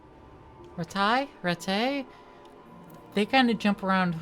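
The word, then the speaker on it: Rattay: Which one is the correct pronunciation as well? They're never They never keep that up. Sometimes they say retail, sometimes they say ret. Looking at it, I would say ret. But I've heard the more noble people say retai more, so I'm more inclined to go with that pronunciation as well.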